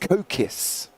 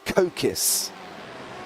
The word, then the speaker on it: Kokis: He said, my name is pronounced Kokis. He said, I know it's not very obvious based on the spelling. So he doesn't blame us for getting it completely wrong. But it is actually Kokis.